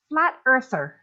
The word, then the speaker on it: flat earther: Say flat earther. Flat earther. Right, 3 syllables.